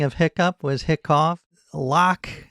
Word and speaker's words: lough: Lock, if you're going with lach, if you're going with the Scottish.